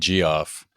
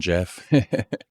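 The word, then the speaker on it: Geoff: an extra special Jeff I said g off well it's spelled j g e yeah GE o FF so sorry for the confusion Jeff special episode based on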